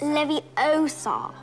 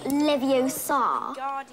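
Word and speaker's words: Leviosa: I can totally relate you saying it wrong it's Lev Oar not Levi Oar you do it then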